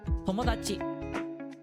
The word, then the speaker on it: 友達: So this is read as Tomodachi. Tomodachi. Tomodachi. Don't put too much like stress on any one syllable.